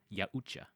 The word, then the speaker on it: Yautja: They have a pronunciation. It's called Yautja. That is the predator species name.